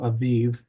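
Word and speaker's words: אביב: English it looks like abib but it's in pronounced in Hebrew Aviv and then you're reading in Nehemiah and he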